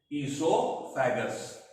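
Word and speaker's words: oesophagus: name पता होने चाहिए तो नाम है ो फैग ओ इज साइलेंट ो फगस ओ is silent food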